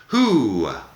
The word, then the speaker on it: who: Who, W-H-O, W-H-O, who. La W no suena, es como si fuera H y una U larga, who.